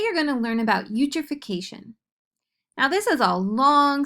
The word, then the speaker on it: eutrophication: pronounced U then tro the Phi sounds like f the ca sounds like K and the t o